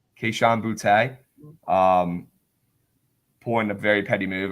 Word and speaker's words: Boutte: Boutte? Boutte. Keyshawn Boutte.